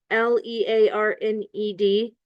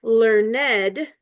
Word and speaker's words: learned: audition learnedness and intellectuality so learned l e a r n e d as one syllable learned um that is the past tense of the infinitive to learn but learned with two syllables learned is an adjective equality of a person